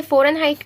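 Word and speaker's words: Fahrenheit: मैंने फ़ारेनहाइट का कुछ प्रोनाउंसिएशन मिस्टेक कर दिया था, तो ये हमारा फ़ारेनहाइट है।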